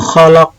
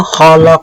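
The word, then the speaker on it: خلق: Sya min syarri ma khalaq. Nah, kha itu hanya agak dibaca bunyi di tenggorokan. Min syarri ma khalaq.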